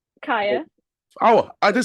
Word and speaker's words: Kiya: actually talking about like the announcing, and I think I've just said the name wrong, haven't Mm, I? Kaya.